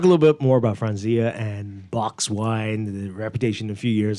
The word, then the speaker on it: Franzia: And I don't think I ever pronounced that correctly when I saw it. What did you used to say? I don't. Frazania? I don't know. I was all over the place. I'm sure. Frizzante, I've heard as well.